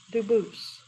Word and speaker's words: Dubus: spelling in America, and they do pronounce it Dubus, but you said you pronounce it Dubus, Dubus? as the original Dubus, as the original French. Yep. Very well, Dubus.